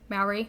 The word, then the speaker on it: Maori: Maori?